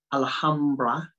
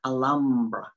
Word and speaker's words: Alhambra: pronunciation she said well in spanish it's alhambra in english when i'm talking to you in english i'm saying alhambra because that's how it's